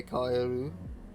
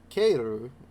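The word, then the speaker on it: かえる: For example, if you see the word kaeru, you simply say kaeru. The E does not exercise magical powers after the A as it would in English. I love the way the guy who wrote this, like, just describes things. This is most definitely not pronounced keiru.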